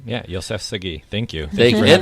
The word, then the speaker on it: Yoseff Sagi: And this evening, we get a guest star coming actually from Los Angeles, and it's Yoseff Sagi. Is that how you say your name? Yeah, Yoseff Sagi.